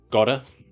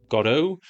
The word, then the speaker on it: Godot: Samuel Beckett's Waiting for Godot. Other people call it Godot, but I have it on good authority, Wikipedia, that the correct pronunciation is the Irish pronunciation, which emphasizes the first syllable, God.